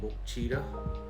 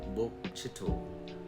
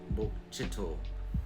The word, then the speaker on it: Bokchito: So this town right here, a lot of people say Bokchita or Bokchito, but it's actually pronounced Bokchito. Bokchito.